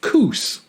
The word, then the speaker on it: Coos Bay: you have Coos Bay in Oregon that is pronounced coos yeah yeah and I've heard of Coos Bay